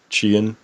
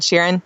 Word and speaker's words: Sheeran: The singer dude, Sheehan? Oh, Ed Sheeran.